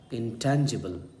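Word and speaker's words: intangible: This is इंटैंजिबल। इंटैंजिबल इंटेंजिबल, एकदम आपको Google जैसा प्रोनाउंसिएशन बता रहा हूँ, क्योंकि यही इसकी खूबसूरती है।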